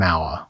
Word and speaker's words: hour: R begins with the letter H, but the H is silent, so the word begins with a vowel sound, an hour.